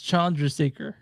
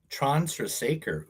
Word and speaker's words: Chandrasekhar: It's Chandrasekhar. Transtrasaker.